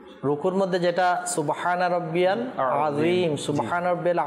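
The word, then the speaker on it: عظيم: মধ্যে যেটা সুবহানা রাব্বিয়াল আজিম সুবহানা রাব্বিয়াল আজিম এখানে অনেকে আইন জেটা রয়েছে আজিম আজিম এটা উচ্চারণ করতে পারে না তাইলে এটা তো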